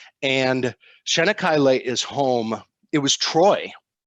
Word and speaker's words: Çanakkale: And Képes is actually the town that we dock in, but there's a town right next door, and it's pronounced Çanakkale. And Çanakkale is home.